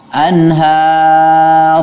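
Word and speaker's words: أنهار: taji ini tahtihal Anhar Anhar HAM pada saat kita berhenti pada huruf road dibaca mufakhamah betul tetapi tidak perlu mengumpulkan bibir seperti seolah-olah kita mengucapkan bom Nah ya sebagaimana kita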